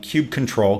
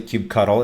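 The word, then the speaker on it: kubectl: a command line called Cube control Cube CTL a lot of folks like to pronounce it Cube cuddle it's a very controversial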